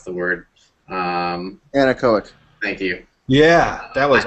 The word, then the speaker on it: anechoic: I don't even know how to pronounce the word. Anechoic.